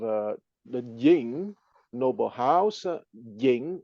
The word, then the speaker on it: Ying: having created the Dynasty is ying pronounced at the second tone y i n g